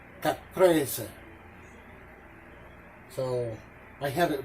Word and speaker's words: caprese: going to pronounce it the true italian way it's chicken caprese caprese so i have it wrong chicken capris chicken compressed it's chicken